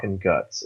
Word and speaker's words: Guts: trying to do it at least Mira has come out and said like it's guts it's guts stop it stop it